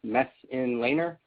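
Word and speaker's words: Messenlehner: my name is mess laner pronounced mess in laner and as you can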